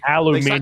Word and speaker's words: Aluminium: I don't know who did it to them, but whoever it is, like they Aluminium. sacrificed the entire shit. Yeah, Aluminium, yes. Exactly. Thank you for Too many pronouncing letters.